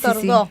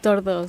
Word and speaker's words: Tordó: Y es Tordó. Tordó, Con acento en la...